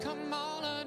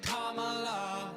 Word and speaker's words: Kamala: It's not Kamala, no, her name is Kamala. Duh. Emphasize the first syllable, it's Kamala.